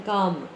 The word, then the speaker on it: calm: Then calm, it's the L which is silent.